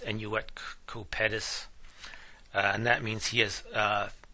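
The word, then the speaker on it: Annuit Coeptis: And you may notice the Latin phrase, I believe it's pronounced enuet cupetus, and that means he has favored our undertakings, referring to God.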